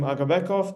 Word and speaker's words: Agabekov: Hi, my name is Agabekov. This is how you pronounce my surname correctly.